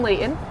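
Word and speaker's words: Layton: same like Hometown in Leighton Leighton sorry Leighton with a tea Leighton with a tea I don't pronounce my te's um and actually my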